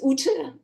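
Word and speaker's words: Ute: yeah the first name I know it's it's short and snappy but it's difficult to pronounce so it's UT UT um yeah it's a it's a you know I'm from Germany so that's a very old and uh German name um um so I've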